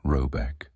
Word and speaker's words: Robeck: The manor house, or herrgård, in question is to be called Robeck, pronounced something like Robeck, though that is not its name.